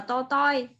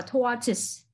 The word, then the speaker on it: tortoise: Ngày xưa học là to toi bởi vì cô không biết đọc. Mà đọc là tortoise.